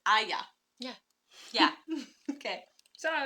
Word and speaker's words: Aijā: by the way guys it's pronounced Aya yeah yeah okay so